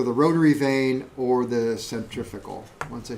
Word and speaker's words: centrifugal: Centrifugal. Or centrifugal. Yeah. Yeah. That's the right way to say it.